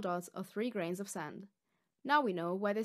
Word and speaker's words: 三: The Middle Chinese pronunciation was /*sɑm/. This becomes sān in Chinese, さん san in Japanese, and 삼 sam in Korean.